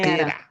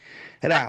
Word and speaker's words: Terá: Tera. Tera. Em algumas bíblias está tera, mas a pronúncia correta é terá, ou seja, carece do acento agudo no a, porque é uma palavra caldaica, né?